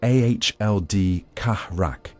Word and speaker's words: Ald Karak: At the fortress of Ald Karak, pronounced Ahld Kahrak, companies of spears massed behind parapets of basalt